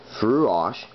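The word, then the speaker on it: Fraoch: um the frosh pronounced throughosh so you're pronouncing f-r-u-o-c-h but spelled f-r-a-o-c-h anyways brood in scotland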